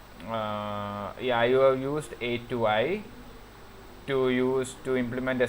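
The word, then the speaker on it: atoi: We call this the A2i pronounced A2i family and the str long stir to long stir to long family.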